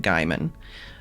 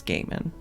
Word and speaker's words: Gaiman: Like my whole high school life, I pronounced it Gaiman, but I think it's Gaiman. So I keep trying to like reteach myself.